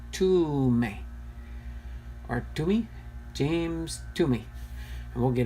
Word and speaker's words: Thome: name is, but it's it's pronounced actually like T-O, almost like a U-M-I, so I'm thinking it's ʻtoʊmi, or ʻtoʊmi, James ʻtoʊmi, and we'll get into that in just a second here.